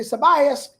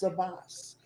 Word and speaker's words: Sabas: Every, I would say Sabias. He texts me, Mr. it's Sabas.